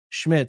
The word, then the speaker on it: Szmyt: Andre Smith uh Schmidt is how it's pronounced. Even though it's spelled SZMYT, it's pronounced Schmidt.